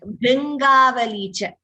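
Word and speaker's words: भृङ्गावली च: If you see, even in the English version, we do not say BHRU. We say only the BHR with that dot below. It's the same pronunciation as Krishna, Kripa, those letters.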